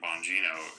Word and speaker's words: Bongino: the beginning, why would he ever appoint Dan Bongino as like you know, maybe they just didn't And and thank you for correcting me Bongino.